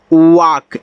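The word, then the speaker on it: walk: अब आगे भी देखिए अगर एल के बाद के आ जाए तो यहां भी एल आपका साइलेंट होता है यानी कि इसको पढ़ेंगे वाक ये आपका पाम है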